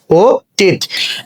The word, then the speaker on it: অতীত: অতীত শব্দ উচ্চারণ খুবই সহজ, শব্দের শুরুতে অ আছে, তারপরে দীর্ঘইকার আছে, তাহলে উচ্চারণটা হয়ে যাবে ও, তয়ের রস্যইকার, তয়ে হসন্ত, আমরা জানি যে দীর্ঘইকার থাকলে উচ্চারণ কি হয়ে যায়, রস্যইকার হয়ে যায় ও টিত।